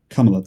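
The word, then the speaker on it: Kamala: and Trump or Trump and Kamla and sorry, Kamla, that is the correct pronunciation, right?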